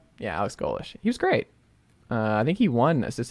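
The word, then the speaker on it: Golesh: fans feel about that it's fine Alex golish pronouncing that right yeah Alex golish he was great uh I think he won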